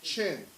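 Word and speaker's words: Qin: z h o u chin q i n is pronounced it's chin Han hn Dynasty these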